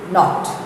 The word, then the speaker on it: knot: Going on to the next page, pronunciation, silent K. The K is not pronounced. Repeat after your teacher. Knack. Please don't say knack. K is silent. Knack. Knob. Knee. Knife. Kneel. Knot.